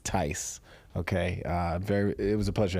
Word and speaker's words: Theis: the H is silent. Very similar to nice. So Theis. Theis.